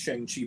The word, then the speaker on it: Shang-Chi: By the way, I think it is pronounced Shang-Chi because we're both Mortal Kombat fans. Shang Tsung has the same spelling.